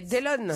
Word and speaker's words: Delon: Ah, c'est pas Dylan, ah, c'est pas Delon. C'est un étranger. Alors oui. Delon. Ah, j'ai pas la réponse, mais on c'est un étranger. C'est Dylan. Non, Delon.